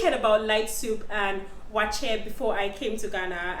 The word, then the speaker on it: waakye: the receptionist there, and she said light soup, wache. I usually pronounce it wakie because it's spelled W-A-A-K-Y-E, something like that, but then I heard it's wache.